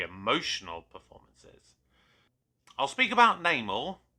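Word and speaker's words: Namor: performances I'll speak about namal uh or no more as they pronounced it within the movie I thought he was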